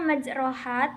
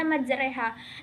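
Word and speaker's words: مجراها: biasanya pada ayat tersebut tulisan ayatnya itu dibacanya majroha tapi dibaca majreha.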